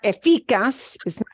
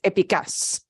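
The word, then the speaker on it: eficaz: just means efficient yeah it's not efikas efficas it's epicus okay okay yes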